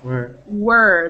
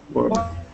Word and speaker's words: were: W-E-R-E is were, like this. Yes, were. Like this, the were in whirlpool. Were. Whirlpool, yes, whirlpool.